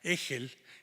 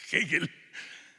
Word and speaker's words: Hegel: de Hegel, pero que todo el mundo en la cárcel llama Hegel, y Revueltas les grita a todos que no se dice Hegel, sino se dice Hegel.